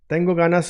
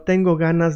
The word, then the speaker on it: tengo ganas: Make it a little bit soft, like it's not staying like g, it's sliding.